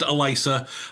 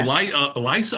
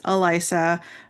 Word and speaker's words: Alyssa: So, uh it's it looks like Alyssa, but it's pronounced Elisa. Uh but some people call you Eliza.